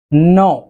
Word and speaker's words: gnaw: এই ক্ষেত্রে উচ্চারণটার দিকে একটু খেয়াল রাখবেন, বানানটি হচ্ছে GNAW, বাট উচ্চারণটি হচ্ছে নো।